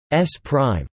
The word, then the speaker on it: S′: Frame S belongs to a first observer O, and frame S pronounced S prime belongs to a second observer O.